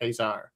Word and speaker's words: Caesar: you know that sound but in actual Latin Roman speaking it was probably Khesar interesting very interesting